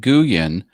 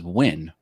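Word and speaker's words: Nguyen: I worked with someone with that last name, and he pronounced it Guyen. But then there's a famous golfer with that same last name, and he pronounces Win.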